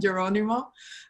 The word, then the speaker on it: Geronimo: and and julieta um both their names are pronounced with ah so feel free to call them julieta and geronimo and uh and and